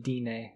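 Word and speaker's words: Undine: poison I'm tryna Romano it's in DNA is how they pronounce it in this game yeah there's DNA gnome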